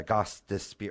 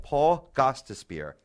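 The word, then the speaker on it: Gostisbehere: Union One of course Paul gos spear uh gos despar why do I always mess it up on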